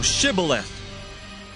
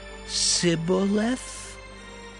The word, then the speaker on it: Shibboleth: If he said, Nay, then said they unto him, Say now, Shibboleth. And he said, Sibboleth? For he could not frame to pronounce it right.